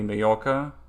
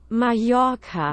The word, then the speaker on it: Mallorca: That's like, for example, I know if two L's are together, it's like that would be Mallorca. I know, right? Is that even how you spell it? Mallorca.